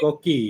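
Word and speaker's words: coquí: Am I pronouncing that The right? Koki, The yeah, coqui.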